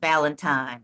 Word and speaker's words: Ballentine: Yeah, And his since name is then, pronounced, sorry, it's pronounced Ballentine. So just oh, so, Ballentine, yeah, okay. yeah, yeah. That's the South Carolina way of Ballentine.